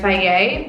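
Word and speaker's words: Fage: 0% or the 2% from the brand FAVES, which is spelled F-A-G-E.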